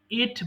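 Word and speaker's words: ate: খাওয়া ইট এট ইটেন এটা অনেকে অ্যাট বলে এট না এটা সিম্পলি এট বলবেন আবার বলি ইট খাওয়া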